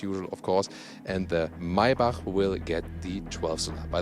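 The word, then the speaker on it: Maybach: of course and the maibak will get the 12th by the way yeah yeah you say my bach that's the german pronunciation not not my bach this is uh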